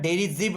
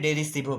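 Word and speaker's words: derisive: এর পরের শব্দ হচ্ছে ডেরিজিভ বা ডেরিসিভ, যাই বলো তোমরা, ডেরিজিভ আমরা প্রোনাউন্স করি, অনেকে ডেরিসিভও বলে।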